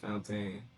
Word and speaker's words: Fontaine: Oh yes, the pronunciation of it is French like because it's spelled like fountain. Okay, yeah, exactly. It's spelled like fountain, but it's pronounced Fontaine.